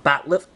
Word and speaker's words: bat'leth: Kind of looks like a box cutter or a Klingon bat'leth. That's how you pronounce it correctly.